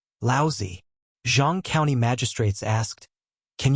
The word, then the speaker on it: Laozi: Li Mu corrected his pronunciation and said, "Laozi."